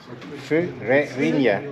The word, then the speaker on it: Ferreirinha: Dona Ferreirinha. Sorry. It's a little difficult. Fu, Yeah. Re, Ri, Nya. Furerinia. Yeah, exactly.